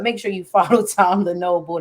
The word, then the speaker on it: Lenoble: But make sure you follow Tom Lenoble. That's Lenoble, just like it's spelled on the screen, so you can connect with him.